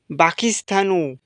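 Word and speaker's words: باكستان: এর পরবর্তীতে যে শব্দটা আমাদের সামনে এসেছে বন্ধুরা আমরা স্ক্রিনে দেখতে পারছি বাকিস্তানু এটা হচ্ছে আরবি শব্দ এবং এর বাংলা শব্দ হচ্ছে পাকিস্তান।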